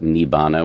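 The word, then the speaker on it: nibbāna: They call it nibbana which is the way it's pronounced in in the language of pi. And so you can have these zaps of of nirvana or nibbana and it can upgrade the software of your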